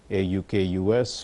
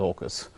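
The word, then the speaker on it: AUKUS: Kingdom and in the United States some also pronounce it as a UK us or Oak us but August let's go with August and they we're looking now at What's called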